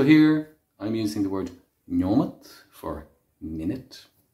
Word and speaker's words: nóiméad: Tá sé há nóiméad tréis a dó. So here I'm using the word nóiméad for minute. This is Munster pronunciation. Elsewhere you would have nóiméad.